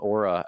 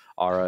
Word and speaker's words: Aura: saying it correctly now they let me know that ARA is not the correct pronunciation I'm sorry Aura thank you for letting me know uh anyway um so